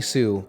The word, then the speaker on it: Hsu: There's a pro skater named Jerry Sue, HSU, and I always pronounce it Sue.